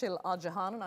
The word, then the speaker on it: Isil Acehan: those mix-ups in the Ottoman Empire okay it's Shailaja Hana I apologize for mispronouncing your name at the beginning there it's